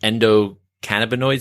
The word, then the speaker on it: endocannabinoid: want to say this may be wrong, but endocannabinoid system, ECS.